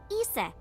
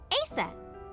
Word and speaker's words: Isis: Horace's mom is named Isis, but in ancient Egyptian, it's pronounced closer to Ise or Asa.